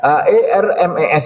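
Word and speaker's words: Hermès: Tulisannya HERMES ya. Iya yang mulia. Bacanya apa? Hermes yang Nah, mulia.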